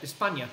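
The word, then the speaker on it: España: Spain the problem is someone from Spain in Spanish you pronounce that espana which means that sorts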